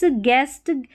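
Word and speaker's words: guest: तो ये GU रहता है ना, तो GU में U साइलेंट रहता है। देखिए गैस, गेस्ट, गाइड और गिटार, तो यहाँ पर जो गैस में U आ रहा है, गेस्ट में U आ रहा है, गाइड में U आ रहा है और गिटार में U आ रहा है, ये साइलेंट है, इसको नहीं पढ़ा गया है।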